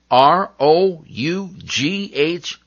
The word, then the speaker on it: rough: you letter f well sometimes g and h team up to make the f sound like in r o u g h rough l a u g